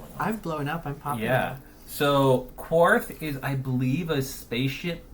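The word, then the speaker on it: Quarth: q u a r t h so the quartth and the Japanese much easier to say uh sort of sound like but um your phone is going on I'm blowing up yeah so korth is I believe a spaceship Puzzler um again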